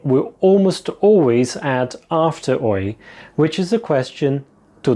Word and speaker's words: oi: Not to be confused with the English oi, which according to the Oxford dictionary, it's used to attract someone's attention, especially in a rough or angry way. So, you don't want to do that. You want to say oi with a happy and upbeat intonation. Oi.